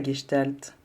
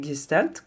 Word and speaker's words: Gestalt: C'est quoi la Gestalt? Vous attendez, ça sonne un peu allemand dans ma bouche, mais effectivement je le prononce à l'allemande en l'honneur du fondateur de la Gestalt, le neuropsychiatre et psychanalyste